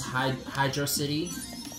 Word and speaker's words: Hydrocity: which, for me personally, I pronounce it as Hydrocity, but I spell it out as one word.